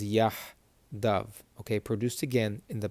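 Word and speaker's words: יחדיו: Okay, so they would say yachdav. The Sephardic or more Israeli is going to pronounce this as yahdav.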